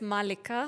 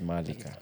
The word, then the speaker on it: Maalika: even if that's, you know, but it's Malika. It's Malika.